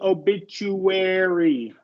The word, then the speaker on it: obituary: feature that's obit yeah and uh this a turns into a short e obituary okay obituary okay yeah